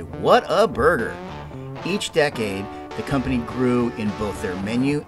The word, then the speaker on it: Whataburger: should honor their pronunciations it's simple English people it's Whataburger when you eat it you're supposed to be like wow what a burger right not Water Burger I think it's kind